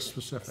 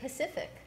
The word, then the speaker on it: specific: What about the word specific? Say specific. Specific. It doesn't matter. Well, others say Pacific.